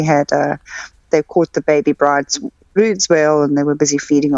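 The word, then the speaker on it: Bryde's whale: I always said bride's whale. You say it's brood's whale. I obviously didn't say it correctly. I didn't know. I thought it was bright. It's a brood's whale.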